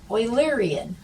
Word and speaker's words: Eulerian: this word here is eulerian oilerian yeah euler was a mathematician he's a swiss mathematician and actually a lot of things are in math we can attribute to euler so that is how we pronounce eulerian circuit so you should have